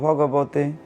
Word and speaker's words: ভাগবত: আমরা যখন গীতা উচ্চারণ করি সেটা হচ্ছে শ্রীমদ্ ভগবত গীতা আকার ছাড়া, আর যখন ভাগবত উচ্চারণ করব শ্রীমদ্ ভাগবত, সেটি হচ্ছে মহাপুরাণ।